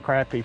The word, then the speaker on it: crappie: I put up a big poll both on YouTube and Facebook, and it was funny. I think YouTube kind of had more crappie for the pronunciation. Facebook was more crappie, but the overall numbers, crappie won. So I'm saying crappie from now on.